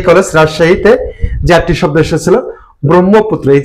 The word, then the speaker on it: ব্রহ্মপুত্র: আর ব্রহ্ম, এখানে হচ্ছে হ যক ম, কিন্তু উচ্চারণে আগে আসবে কি? ম, তারপর হচ্ছে হ।